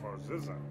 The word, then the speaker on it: Barzizza: My name is Barzizza, Spell that last name. B-A-R-Z-I-Z-Z-A. And it's Barzizza.